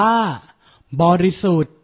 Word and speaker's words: บริสุทธิ์: อย่าง เช่น คำ นี้ อ่าน ว่า บริสุทธิ์ ไม่ ออก เสียง ท ธง สระอิ กับ การัน และ อีก ตัว อย่าง